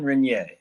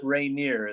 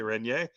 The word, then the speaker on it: Reynier: Jean Renier, not Reineer as I call him. Yeah, you know. Well, I hear you. your English pronunciation and and the French would say rene but I I think